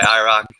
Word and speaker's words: IROC2: We just go by IROC. The 2 is silent.